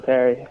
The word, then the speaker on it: Pierre: doing hey uh yeah it's Perry uh don't worry should there be a y at the end of your name no no no it's spelled p i e r r e p i so you're Pierre yeah yeah it's uh it's French but uh it's like Canadian French so Danny why' you